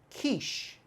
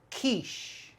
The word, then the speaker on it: quiche: and sound it out quiche totally wrong though this is a french word and we pronounce it quiche quiche strong k in the beginning sh at the end quiche and quiche is